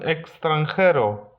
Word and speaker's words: extranjero: X wymawiamy tak samo jak CC, czyli KS. Un extranjero.